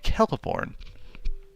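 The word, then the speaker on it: Celeborn: I knew I It's one of those names that, uh, I have seen written so many times, uh, never pronounced. So, thank you, AJ Kellaporn.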